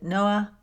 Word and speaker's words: Noah: Now, to summarize it very quickly, the story centers on a teenage boy named Noah. Said in the Irish brogue, it sounds way different, but that's how you say it.